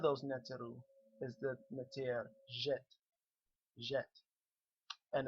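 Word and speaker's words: Djet: Now this DJ is pronounced like a soft J, like a letter J in English, okay?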